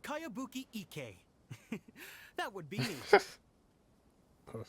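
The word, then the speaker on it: Kayabuki Ikkei: By Kawabunga Iki. Yoimiya, this is a really strange name. Kawabunga. Who's this Kawabunga? It's pronounced Kayabuki Ike.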